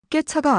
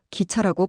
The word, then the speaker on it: 기차: 깨차가 아니라 기차라고 발음해야 해요.